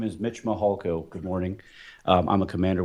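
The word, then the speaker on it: Mihalko: court reporter you bet my name is Mitch mahalco good morning I'm a commander with the El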